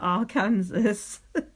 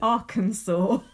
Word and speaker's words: Arkansas: minutes and 15 seconds you definitely don't pronounce that Aransas how do you pronounce it Arkansas Arkansas is it end in A W no but I just know how you pronounce that never mind well that'll